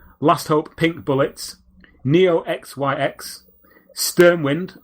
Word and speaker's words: Sturmwind: pink bullets Neo xyx sturmwind or sterm vind as Scott was quite apt to pronounce it and last but not